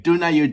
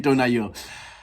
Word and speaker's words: Дунаю: Definitely pronounced differently in English. So I'm going for the Ukraine way. Dunayu, Dunayu.